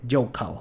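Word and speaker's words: Hochul: Se escribe Jochul, pero se dice Joecal, como local.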